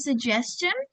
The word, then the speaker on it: suggestion: Ingat ini bacanya J ya teman-teman bukan G. Jadi do you have any suggestion?